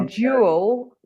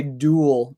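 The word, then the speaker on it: dual: sounds drawn carriage yeah so it's a jewel two Carriage ways a jewel Carriage Way you say duel Jewel Jewel yeah interesting um there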